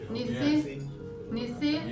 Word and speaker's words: Nissi: Do I pronounce this right? Nissi? Yeah.